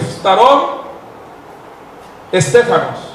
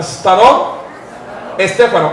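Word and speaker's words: φθαρτὸν στέφανον: Escuchen cómo se dice. Se dice starón estéfanos. Repita, starón estéfanos.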